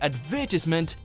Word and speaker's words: advertisement: little jarring to hear advertisement if someone says it differently. Problems arise in the middle syllable, with some saying tis and others saying ties, as well as putting the stress in different places.